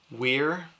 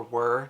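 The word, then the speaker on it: Wirr: You have Davian, Weir, or Were, depending on how you want to pronounce it, Asha, and Caden.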